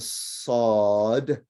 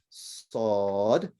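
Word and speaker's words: صاد: The name of the letter is sod. And I guess similar to when you say a sword, right? But it's a thicker sound. So sod. Sword. Yeah, very good. Sod.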